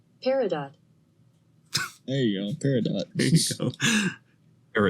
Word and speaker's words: peridot: It is pronounced... Peridot.